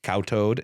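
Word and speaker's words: khao toad: start frantically whispering uh k h a o space t o a d. So cowtoad is like how I would pronounce it.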